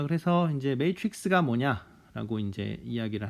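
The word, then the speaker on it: matrix: 그래서 이 발음은 틀리면 안 돼요. 왜냐하면 맨날 나오니까. 그래서 매트릭스입니다. 자, 그래서 이제 매트릭스가 뭐냐라고 이제 이야기를 할 건데요.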